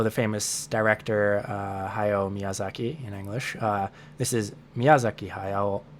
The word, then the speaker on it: Miyazaki: machinery for for japanese the proper japanese way to say it is miyazaki miyazaki and there is